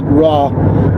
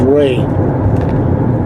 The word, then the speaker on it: Ra: day we pronounce it raw but it was properly pronounced according to the books of referenced or read it it was really pronounced in those days as Ray so you'll see it's